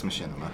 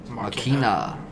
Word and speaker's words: Machina: Demons X Machinima. oh fucking annihilate. And you just pronounced Machina weird. Like you really emphasized the Machinima. I. Machina.